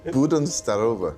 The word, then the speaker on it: Будем здоровы: Будем здоровы. Is there an We'll easy be way? healthy, yeah. Budun starova.